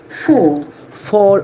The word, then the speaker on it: fall: the verb is f-a-l-l though the letter is a the sound is o four four fell Fallen as bus